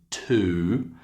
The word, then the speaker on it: to: It has a strong pronunciation, to, and it has a weaker pronunciation, t.